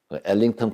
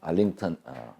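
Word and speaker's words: Arlington: 이게 이제 미국의 엘링턴 국립묘지입니다. 알링턴 제가 이제 경상도다 보니까 영어 발음은 여러분들이 좀 감안해서 들어주시기 바랍니다.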